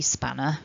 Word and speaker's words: spanner: And then we get this kind of linking R phenomenon at the end of the word spanner. For me as an English